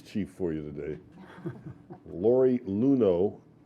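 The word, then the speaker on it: Luhnow: Lori Luno. Looks like it's spelled Lunow, but it's pronounced Luno.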